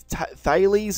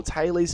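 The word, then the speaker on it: Thales: start off with something called the thees or theorem or Tes depends how you say it um and this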